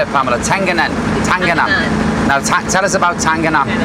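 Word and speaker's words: Tenganan: Tangana.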